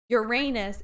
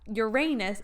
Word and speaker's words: Uranus: We're talking about how Uranus is not Uranus, it's Uranus. It's not Uranus, dear.